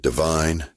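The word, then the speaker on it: Devine: That is spelled de v i ne, but we say it divine Texas style. Just like the little town down the road from here.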